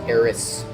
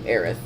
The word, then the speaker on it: Aerith: So, Aerith would be pronounced Eris with a SU sound at the end, if you were speaking from a more Japanese perspective. Whereas us here, we would read Aerith and appropriately read it with a TH.